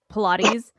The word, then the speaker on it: Pilates: some lady that teaches Pilates. And she was Mhm. telling Agnes, she goes, yeah, I think her husband left to teach some pirates, but she pronounces it Pilates.